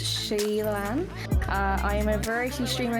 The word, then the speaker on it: SheilannO: Hi everyone, I'm SheilannO, pronounced Sheillann.